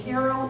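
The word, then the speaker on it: Cairo: barns there was a 40 acre Mill in Carol Illinois and that is how you pronounce it anyone ever heard of Carol Illinois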